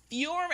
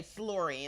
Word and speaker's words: Fury: Yeah, in 2013, right before she released Fury. I always say the name wrong because I want to say Flurry, and I know that ain't right.